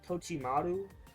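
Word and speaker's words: Totomaru: Natsu versus Tochimaru.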